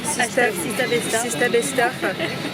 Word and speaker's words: Sista Besta: Mais allez nous suivre sur TikTok, Sista Besta avec 2 A. Sista, S-I-S-T-A-A, Besta. Comme ça s'écrit, comme ça se prononce.